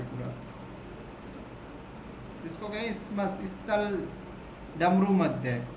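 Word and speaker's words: Isthmus: तो ये Cordillera Canada से लेकर ये पनामा स्थल संधि है ना, इसमस, इसको देखिए मैं टी और एस साइलेंट है, मतलब इसमस बोलेंगे इसको, ठीक है।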